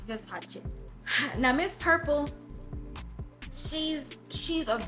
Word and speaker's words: Versace: That I do know, that's exactly how you pronounce the name, it's Versace.